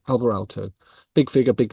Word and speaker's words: Aalto: even understand now that I pronounce Alto wrong but whatever that's okay um but Finnish does soft Dental teas so it's Alto rather than Alto um but in any